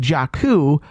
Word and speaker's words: Jakku: Is that they're pronouncing it? Yeah. It's in fact Jakku, which I think is awesome because they say